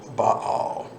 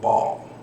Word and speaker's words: Baal: But when you do the ancient history on it, it's actually the Arch of Baal in the ancient pronunciation, but here in the West we call it Baal.